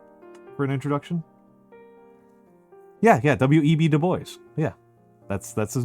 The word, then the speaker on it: Du Bois: You pronounce the S. It's not Dubois, Du Bois.